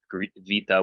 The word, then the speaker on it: beta: And Vita would be the pronunciation of that word in Greek. Vita makes a V sound.